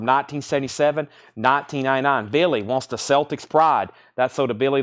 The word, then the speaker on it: Celtics: The Boston Celtics. The only way you pronounce it Celtics. Anywhere else it's Celtics.